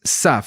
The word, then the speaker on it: Tzav: sav okay el nombre de la porción es sav se escribe y se pronuncia de esta forma y